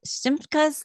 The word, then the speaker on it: Simchas: brand new, fun movie entitled, I hope I pronounced this correctly, Simchas and Sorrows.